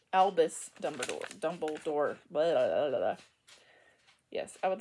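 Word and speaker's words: Dumbledore: forgot how you say his name Albus Dumber dumbledor yes I would like a full schem of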